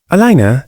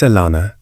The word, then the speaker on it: Alana: The baiff had called her name wrong. Alina, he'd said, dragging the vows out carelessly. It's Alana, she corrected softly.